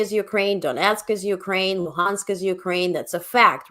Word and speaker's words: Luhansk: And pronounce it Luhansk, not Lugansk, the Russian way.